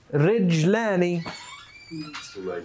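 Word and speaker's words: رِجْلانِ: Rajulani means 2 men. Rijlani, 2 feet, 2 legs. All right? You guys see the simple difference of how you pronounce it can be? So it's not just like in English if you, might mix up a word or something and get a little pronunciation off. This will make a big difference sometimes. Rajul, rijlan.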